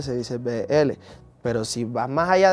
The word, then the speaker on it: Beéle: Entonces si tú pronuncias la B y la L se dice BL.